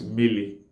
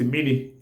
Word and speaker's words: miri: land, like Anambra people, will pronounce miri as mili. Then mili is spelled as me-me-iri, me-me-ili. Then some other parts of Abia State, like Ohofia, Breba, Arochukwu, some will call it mini. Mini. Mini is spelled as me, e, ni, mini. Then, then mini, miri, miri, which is the the generally accepted Igbo word for water, miri, and mili, and mini are all talking about what? Water.